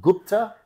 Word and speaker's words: Gupta: but the view in front of me mea Gupta have I got the after the the the last name pronunciation correct yes you I got it perfect